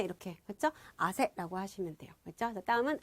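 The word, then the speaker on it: 汗: 그래서 우리가 땀을, 요걸 써서 우리가 아세라고 읽거든요.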